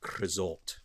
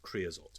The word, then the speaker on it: creosote: So it also fills up with creosote, or creosote, depending on how you want to pronounce it. So creosote or creosote, as I shall say it, will also fill